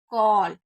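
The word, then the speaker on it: call: ओ बना देती हूं जैसे अगर कहीं पर भी ए डबल होगा तो हम इसे ल पढ़ेंगे यानी कि ए को ओ पढ़ेंगे जैसे कॉल तो यहां पर ए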